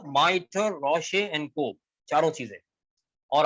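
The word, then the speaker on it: rochet: रोशे, रोशे ये है, इसमें टी साइलेंट है, कोट या गाउन जो ऊपर से पहना जाता है।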